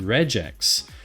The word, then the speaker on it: regex: times a week however in my head it's always been regex r g like giraffe so interesting about that uh interesting about that JD thank you Andy sleuth for the follow by the way is regex is short for regular expression so unless you say regular then saying regex is actually technically incorrect so it's kind of